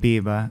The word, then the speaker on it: Biba: I'm here with Biba.